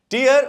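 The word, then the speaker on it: tear: टीयर और टेयर दोनों के स्पेलिंग सेम है, लेकिन मीनिंग्स अलग हैं, प्रोनाउंसिएशन भी अलग है।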